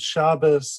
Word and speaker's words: Shabbos: In the same way that we might say Good Shabbos as opposed to Shabbat, different Jews pronounce the same words a little bit differently.